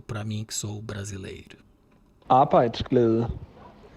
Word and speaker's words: Arbejdsglæde: Arbejdsglæde. Então, a pronúncia Arbeitsglad, algo assim.